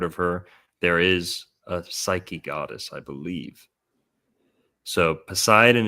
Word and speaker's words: Psyche: the gender neutrality there of Aquarius and Neptune in Pisces with silent P words like Poseidon, Psychology, Psyche.